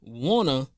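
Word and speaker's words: Wunna: But a year later, Gunna's Wanna, that's the name of the album, Wanna, spelled like Gunna but with a W, album just went platinum.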